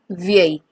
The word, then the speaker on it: vieille: Elle est vieille. Elle est vieille. I'm not pronouncing this word as VL. No, the double L in French is going to remain silent whenever it comes between I and E.